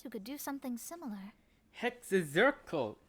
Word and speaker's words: Hexenzirkel: Hexenzirkel. So that's how you pronounce it.